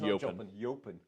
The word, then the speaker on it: Jopen: Not, it's spelt Jopen, Yeah. but it's pronounced Jopen.